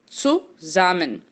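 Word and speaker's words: zusammen: som dts então sul o s vai ter som de z suza suzan suzan que significa juntos o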